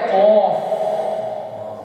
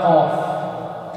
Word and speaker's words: ق: Phir hai qaf. Wala qaf. Okay? From the root of the tongue. Peeche. Peeche se. Qaf.